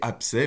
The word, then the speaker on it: abcès: Et abcès, même chose, abcès, c'est bien un P, il n'y a pas de B.